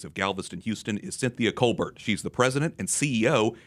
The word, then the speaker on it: Colbert: keep looking but you you pronounce it like like it looks Colbert so very good I